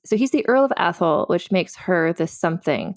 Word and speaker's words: Atholl: brackets some relation yeah the fourth Earl of Athol that's a word how do you say that athl yeah a okay because this is this is